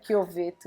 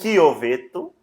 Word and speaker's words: Chiovetto: E do seu do meu sobrenome, que eu não sobrenome, soube pronunciar no começo, como que é? Chioveto. Chioveto.